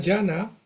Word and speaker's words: Dhyana: Bueno, la comunidad llana, que el nombre es sánscrito, llana, que se escribe así, la transliteración fonética, pero esa es la pronunciación, digamos, sánscrita original, eh, que hace referencia